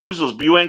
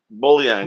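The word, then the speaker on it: bouillon: little buan buan cubes how do you say am I saying it right bullon is that how you bullon yeah bullon Cube so when you want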